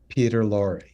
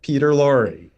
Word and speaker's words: Peter Lorre: Peter Lorre. See? Yeah. Yes. Spelled differently, pronounced the same. Peter Lorre.